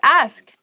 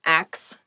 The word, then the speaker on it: ask: The next word is ask. Ask. Please pronounce this correctly. It is not axe. Many native speakers make this pronunciation mistake, and it really bothers me.